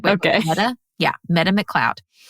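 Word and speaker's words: Metta: Meta? Yeah, Meta McLeod. It's spelt like Meta, but with 2 T's instead. So M-E-T.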